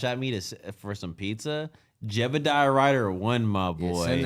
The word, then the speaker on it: Jebidiyah: if you gotta like look up how to spell it, it's Jebediah spelt wrong. It's like a YAH. It's Jebediah.